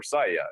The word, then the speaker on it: Saga: Well, so Saga came up, but in Swedish, right? So when there's a G in Swedish, it makes a Y sound. Like the name for Sweden in Swedish is Sverige, which is spelled with a G at the end for the Y.